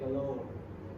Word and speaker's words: Galor: Galor itu sebenarnya namanya dari istri aku ya, tapi Galor itu sebenarnya bahasa Inggris yang jarang dipakai aja. Pronunciation-nya itu kayak galore.